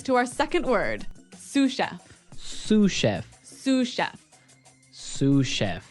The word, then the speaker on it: sous: our second word susha suf suf suf s o u s so the S is silent because it's like a French word yeah something like that